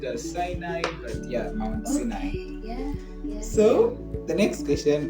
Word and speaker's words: Sinai: Some pronounce it as Sinai, but yeah, Mount Sinai.